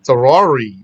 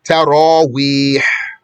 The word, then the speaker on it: Taraweeh: They say Tarari or something, Tawari, or all kinds of, I don't know even how they say it. So it's Taraweeh, Taraweeh.